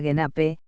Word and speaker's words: Genap: Genap, se pronuncia Genape, que significa completo en